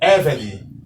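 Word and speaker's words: עבד: Então, como vocês podem ver aqui, a pronúncia do primeiro vocábulo é Eved. Eved, pois aqui a sílaba tônica está na penúltima sílaba, como vocês podem ver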